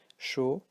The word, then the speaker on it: chaud: Chaud, faux. So you don't pronounce actually the T, the D and the X too, because there's an infinitive word in French having silent letters, but don't worry.